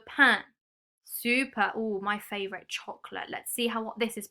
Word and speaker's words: chocolat: Oh, my favourite chocolate. Let's see what this is pronounced like. We can see the sh and the t. But do we pronounce the t? We don't, do we?